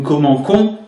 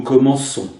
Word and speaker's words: commençons: Le C suivi d'un haut serait prononcé co. Nous commencons ce n'est pas possible. C'est pour ça nous allons rajouter cette fois par un e. Mais une cdille aussi. Nous commençons.